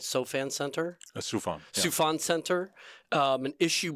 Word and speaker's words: Soufan: You just released through the SOFAN, did I pronounce that right? SOFAN Center? Soufan.